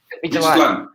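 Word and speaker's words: Midtjylland: And how to pronounce, Mayor? The last team, the Danish team. Which one? This one? Midland. Yes. Midland.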